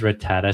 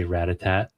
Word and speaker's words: Rattata: Why does Rattata say Ratat? Oh, is that right? That's so funny. He pronounces his own name wrong, right?